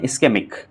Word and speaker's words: इस्केमिक: पहले टाइप की बात करते हैं तो इसको बोलते हैं, हम प्रोनाउंस करते हैं इस्केमिक।